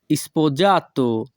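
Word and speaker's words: sposato: বিবাহিত এরিতালিয়ান ভাষা হবে স্পোজাত স্পোজ জাত ইতালিয়ান ভাষায় এস এর উচ্চারণ অনেক ক্ষেত্রে জ হয়ে থাকে ইতালিয়ান ভাষায় স্পোজাত বাংলা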